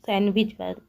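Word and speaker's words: sandwich: तो दोस्तों हम लोग सैंडविच नहीं पढ़ते, हम लोग सैंडविच पढ़ते हैं। इसलिए इसमें डी क्या हो रहा है, साइलेंट हो जा रहा है। डी को हम लोग नहीं पढ़ रहे हैं, इसलिए साइलेंट वर्ड हो जाएगा डी।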